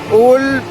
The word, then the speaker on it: Uhl: और ये ऊल नदी, ऊल वैसे कहने में UHL स्पेलिंग में आती है, प्रोनाउंसिएशन में ऊल आती है, H साइलेंट हो जाता है।